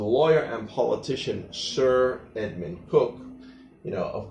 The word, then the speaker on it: Coke: and politician Sir Edmund Cook. You know, it's spelled Coke, but it's actually pronounced Cook.